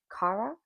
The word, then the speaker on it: Kara: Uh, I also feel like her best friend Kara. That's how I pronounce her name, Kara. Um, I used to know her Kara, but her name's spelled with a K, not a C, so I probably threw me off.